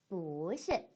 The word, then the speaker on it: 不是: 이 뿌가 뒤에 있는 뒤에 사성이 오게 되면은 몇 성으로 바뀐다 그랬어요? 이성으로 바뀐다 그랬어요. 그쵸? 그래서 뿌시가 아니라 뿌시, 뿌시라고 발음해 주셔야 됩니다.